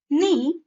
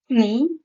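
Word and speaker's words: knee: होता है for example नी नाइफ नॉट नो ड आई प्रोनाउंस कनी क नाइफ कनॉट कनो नो बिकॉज के is silent so I pronounce it नी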